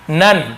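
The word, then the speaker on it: none: अब यहाँ पे देखिए, हम यहाँ पे डन नन यहाँ पर ओन से हटके हैं तो इसे डोन नहीं पढ़ेंगे, इसे हम क्या पढ़ेंगे, डन। अन उच्चारण होगा, नन, तो ये डन नन, ये चीज को आपको ध्यान रखना है।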